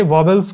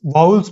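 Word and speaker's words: vowels: अब अगर हमें मान लो कि सारे वॉवेल्स को मैच करना है, वॉवेल्स क्या होते हैं? वाउल्स बोलते हैं हम, वॉवेल बोलते हैं या ऐसे कुछ, लेकिन करेक्ट उसका जो प्रोनाउंसिएशन होता है वाउल्स।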